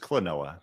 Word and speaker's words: Klonoa: It sounds like quinoa, quinoa. It kind of does. No, it's just Klonoa.